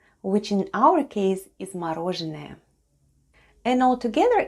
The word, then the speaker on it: мороженое: This time it's stressed and is pronounced as o.